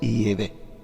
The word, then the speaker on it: Yahvé: Sin embargo, parece ser que la pronunciación correcta en hebreo arcaico es Yahvé.